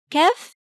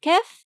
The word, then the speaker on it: كاف: And remember to pronounce the sound of kaf as you draw it. Ka, ka.